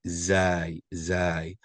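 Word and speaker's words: زاي: the main thing is the pronunciation of the name and it's going to be zy as for the sound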